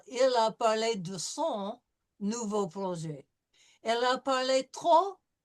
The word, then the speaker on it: nouveau: Nouveau, Oh, nouveau. nouveau. If it's AU or EAU, it's going to be an O sound.